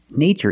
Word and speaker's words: nature: pattern t r e in this spelling pattern T is pronounced with the CH sound like chicken so we see the